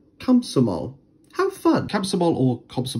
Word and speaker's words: Komsomol: english however if they are unstressed like this one it actually turns into an a so technically we should be saying kamsomol have fun capsule or